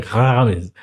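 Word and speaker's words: Remez: Tem pronúncia que falam, eu já vi pessoas falando remes, e tem outros que falam remes. Aqui é remes. Eu coloquei o acento para ficar para um entendimento aportuguesado.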